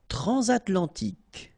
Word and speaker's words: transatlantique: Transatlantique.